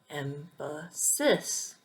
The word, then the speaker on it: emphasis: So the word emphasis, you can say emphasis or emphasis or emphasis. But in English, the correct pronunciation is emphasis.